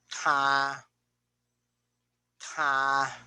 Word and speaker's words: 她: 她她 Again.